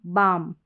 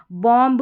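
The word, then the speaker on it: bomb: Number 18 पे जाएंगे तो शब्द के अंत में MB का कॉम्बिनेशन रहता है तो B इसमें साइलेंट रहेगा। जैसे ये देखिए MB, MB, MB, यहाँ पर भी MB। लास्ट में इस B को आपको साइलेंट रखना है, इस B को नहीं पढ़ना है। बॉम, कॉम, टॉम, डम, लैम्ब, इस तरीके से पढ़ना है। बॉम्ब, कॉम्ब, टॉम्ब, dumb, lamb, इस तरीके से नहीं पढ़ना।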